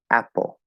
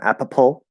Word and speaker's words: apple: details but um yes when you see two p's in apple is one p okay and the first syllable is stressed so it's a pull apple apple that's it it's not apopol or app pull a pull two syllables one p um so yes good